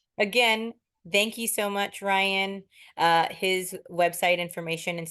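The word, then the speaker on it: Ryne: in Echo it's pronounced Ryan the E is silent it's not it's not rain Brian e Ryan I've gotten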